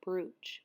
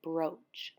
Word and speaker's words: brooch: I was saying brooch, but you pronounce it brooch.